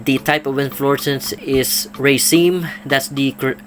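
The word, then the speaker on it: raceme: I mentioned uh the type of importance is Racine that's the correct pronunciation of this kind of uh flower uh stock formation or in fluorescence of Tri fasciitis they are called uh Racine not rasmine like I mentioned before I checked and they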